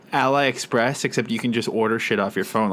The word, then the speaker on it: AliExpress: all right Mario so pretty sure it's Aliexpress right because it's like you know Alibaba yeah yeah I'm correcting